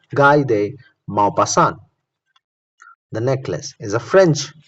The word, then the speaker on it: Guy de Maupassant: Remember the spelling: Maupassant. Maupassant. Maupassant. Maupassant. Pronounced as Guy de Maupassant.